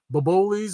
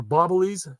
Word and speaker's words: Boboli: I buy one of those bobolis or bobblies, depending on how you say it, and I like to make my own.